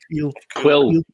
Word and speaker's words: Kuill: Quill. That's it. Quill. But it's spelled Kuill.